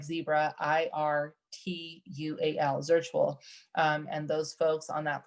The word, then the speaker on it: Zirtual: And I believe those folks there, I'm sorry, not Virtually, it's called a Zirtual, Z like zebra, IRTUAL, Zirtual.